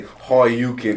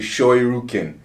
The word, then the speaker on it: Shoryuken: Say, I say Ryu as it should be pronounced. It's not. It's people. A lot of people like to say Horyuken. It's actually Shoryuken.